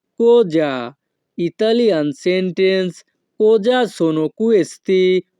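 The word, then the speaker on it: cosa: কি কোজা সোনো কুয়েস্তি এখানে সি ও কো এস এ এর উচ্চারণ হবে কোজা ইতালিয়ান সেন্টেন্স কোজা সোনো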